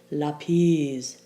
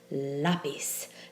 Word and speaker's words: lápiz: the last syllable so if the stress fell on the last syllable we'd say lapiz but we don't say lapiz we say lapis and therefore we have to write in the accent on the second to last syllable to get lapis